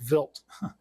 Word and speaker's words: Wild: when the material Cubanite was reported in comet Vilt 2. And it's pronounc it's it's spelled V wild to WLD, but it's pronounced Vilt and uh it's named after a Swiss astronomer named Paul Vilt and he discovered this comet in 1978.